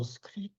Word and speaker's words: discrete: 근데 똑같은 발음으로 discrete 뒤 글자 et가 바뀌었어요. 네. 그거는 정수의 이런 뜻이라고. 디스크리트.